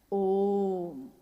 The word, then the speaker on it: ओम: ध्वनि की आवाज थी अ उ म अगर एक साथ सुना जाए उसको तो उसकी आवाज गूंजती हुई ऐसी है जैसे हम बोलते हैं या उच्चारण करते हैं तो हम कहते हैं ओम है वो अ उ